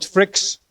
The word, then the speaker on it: Frikkx: I'm called Frikkx, rhymes with man with million tricks.